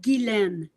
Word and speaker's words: Guylaine: It's we say it gilen in French.